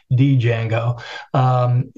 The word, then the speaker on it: Django: And there are various frameworks for that, like it's called Django. Of course, it's spelled with a D, Django, frameworks for doing that kind of programming.